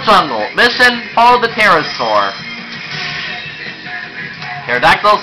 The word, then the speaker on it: Pterodactyl: Pterodactyl solves the silent T just like Psychic.